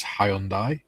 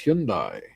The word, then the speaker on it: Hyundai: Julie says, "Jim, you mean like after years of pronouncing Hyundai as Hyundai? We're now told it's Hyundai.